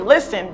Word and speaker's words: listen: it's your turn foreign how many letters we have six letters but the fourth one is not pronounced what is the fourth one the fourth letter the fourth letter is the letter T would you say be